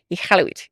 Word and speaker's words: Iqaluit: I want to say it properly, but my ignorance needs a little bit of work on how to properly pronounce it. But Iqaluit is what I want to say.